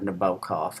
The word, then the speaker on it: Nabokov: I really love it when Amis writes about Nabokov and or Nabokov, I'm not sure, but I believe you pronounce it Nabokov.